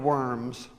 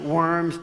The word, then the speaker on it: Worms: And Worms was in Germany, so they don't pronounce it worms. It's Worms or something like that.